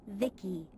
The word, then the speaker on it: Vici: transistors by the way i'm vici pronounced vicky my creator was vivi